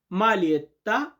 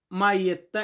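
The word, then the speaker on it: maglietta: মালিয়েত্তা শব্দের অর্থ টিশার্ট। অনেকে আমরা এটাকে মাইয়েত এমনটা উচ্চারণ করি।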